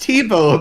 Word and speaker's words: Thibault: It's pronounced Tebow, apparently. I was like, yeah, Thibault, that looks cool. How do you pronounce it? Tebow? This whole time I thought it was a V, not a B. Like TiVo, like TV.